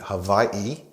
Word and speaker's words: Hawaii: of the instrument is Hawaii or more correctly Hawaii and it's pronounced ukulele or shortened to Guk let's name